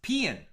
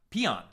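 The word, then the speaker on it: paean: AE o n she says it's spelled it's pronounced pean or peon these are acceptable not Pon not peon wait I don't even know what I said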